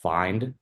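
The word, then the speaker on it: Phind: I think it's called Find. I guess that's how you pronounce it.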